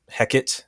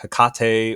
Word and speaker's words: Hecate: I'm just going to call her Heckit, which is the way that Shakespeare pronounced her name. So, uh, that's what I'm going to call her. But, uh, you're free to call her Hekate or Hecati, however you want to pronounce her name. Um, that's probably more accurate.